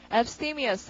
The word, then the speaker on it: abstemious: 그 다음 단어 발음은 abstemious 하고요. 강세가 abstemious이라고 동그라미가 팀에 있고 이것이 잘라서 멀리 두는이니까 이 사람이 아끼고 절약하고 근검하고 이런다는 말이 되는 거죠.